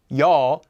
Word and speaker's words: ㅕ: sounds like yo yo these ones kind of sound similar to the other vowels we've learned ah the first one we learned as well as all another one that we learned but now they have kind of a y sound mixed in so we get ya with our previous one and now yaw with this one if you can pronounce ah and all correctly you'll be able to also pronounce ya and our next vowel